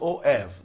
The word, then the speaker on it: of: This is OF, that's pronounced as of.